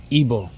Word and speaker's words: Igbo: Igbo is IGBO. I did pronounce it right, but I doubt myself or pretend to because I'm the Black Panther. And ha, I tricked you. So that's why. And now listen, ebo.